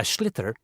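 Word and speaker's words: sliotar: you have to get this ball called a schlitter that's s-l-i-o-t-a-r so it's not spelled the way it's pronounced you hit it into the net for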